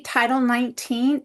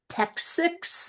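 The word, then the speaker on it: Title XIX: So when you see title 19 it looks like and people sometimes try to pronounce texics or something. It's it's a t for title and then it's Roman numerals x iix which is 19.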